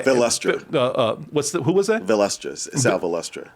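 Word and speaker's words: Sal Valestra: Sal Velustra. Sal Ballatri, is that how I say his name?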